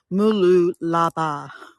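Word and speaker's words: Mooloolaba: 10-minute drive from where we're staying in it's it's spelled m o l o l a b a mulu laa um anytime I see the sun I'm happy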